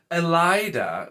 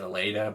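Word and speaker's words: Elaida: little bit more nitpicky we have elida which granted that does sound like more like snooty so makes sense i've always just set a laid up once again that's kind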